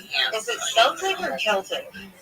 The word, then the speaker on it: Celtic: Is it Celtic or Celtic? Celtic is the right way to say it.